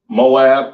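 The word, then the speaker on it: מואב: Chinese people all right pronounced Mawa Abba in the Hebrew all right all right Moab or maw Abba in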